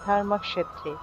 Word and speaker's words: ধর্মক্ষেত্রে: লিখা আছে ধর্মক্ষেত্রে ধর্মক্ষেত্রে এই শব্দটার সংস্কৃত উচ্চারণ হবে ধর্মক্ষেত্রে অর্থাৎ এখানে যে খিয়